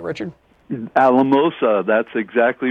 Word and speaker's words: Alamosa: Alamosa, that's exactly right.